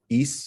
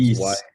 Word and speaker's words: Ys: East is how you pronounce it. It's East.